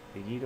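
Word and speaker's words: read: আর রিড অবশ্য তিনটাই একই বানান, কিন্তু উচ্চারণের তফাৎ আছে। রিড, রেড, রিড বানান একই, এখানে এটা লক্ষ্য করে একটা।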